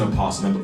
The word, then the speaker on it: opossum: That is an opossum. And before y'all get on me, some people say the O is silent, others don't. Animal Planet pronounced the O, so I do too.